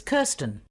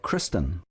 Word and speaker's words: Kirsten: and your first name it's kirsten uh was that kristen no i'll spell it for you k-i-r-s-t-e-n ah sorry about that